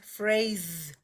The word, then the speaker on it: phrase: be a Z or it can be an S sounding like a Z which one did you put it is an S with a quiet e on the end this eon the end is what is jumping over making the a say the long a sound phrase okay now for